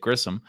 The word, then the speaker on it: Grissom: You just got Vaughn Grisham for Grissom. Check the pronunciation page. Grissom.